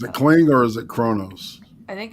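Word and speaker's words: Qo'noS: Yeah, the Klingons were a humanoid warrior species that originated from the planet Kronos, pronounced Kronos, an M-class planet in the Beta Quadrant, one of the major powers of the galaxy.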